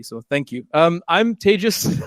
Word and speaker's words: Tejas: Um, I'm Tis. That's pronounced like contagious. Okay. It's uh people have a hard time with this. It's not teas or teas or whatever you want to call.